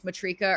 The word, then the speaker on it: Matrica: So, that's via, I never know how to say this, if it's Matrika or Matrica. I hear people say it differently all the Matrica.